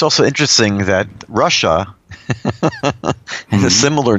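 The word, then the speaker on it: רשע: Like at the Passover Seder, there's the son that's the Rasha, which really is pronounced Russia.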